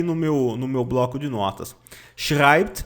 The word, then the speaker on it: schreibt: Schreibt, você pronuncia assim. Schreibt, schreibt, tá? As letras SCH têm som de CH, as letrinhas E e têm som de AI.